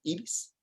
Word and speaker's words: Ibis: Her name is Ibis, which we in Spanish pronounce Ibis, which ended up also being the name of a bird.